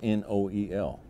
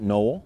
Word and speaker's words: Noel: it's Christmas Day now my last name is n-o-e-l we pronounce it Noel but there's others who